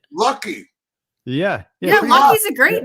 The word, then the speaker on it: Lachy: So it's Lachy. It's Lachy. A weird Okay. Australian name. It's spelt strange. All right. Lucky.